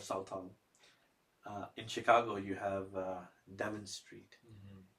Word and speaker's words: Devon Street: In Chicago you have Devon Street. It's written Devon Street, but the Desis pronounce it as Divan Street.